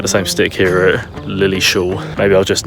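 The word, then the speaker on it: Lilleshall: would appear that this place is actually called Lily Shaw National Sports Center not Lily's Hall like I said earlier which is just another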